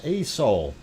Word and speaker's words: Aso: more and there is a soul and uh aso is the way it is spelt it is a soul sand and that is